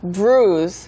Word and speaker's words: bruise: 이거는 뒤에 이제 z 발음이 들어가 있는 bruise이고요. 사람 이름은 bruise, s 발음이죠. 네, 그래서 멍이 들다도 그 마찬가지로 get죠.